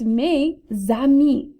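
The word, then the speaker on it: mes amis: dora the explorer here how do you think may ah me should be pronounced right it's me zami that z sound is going to travel over me so instead this would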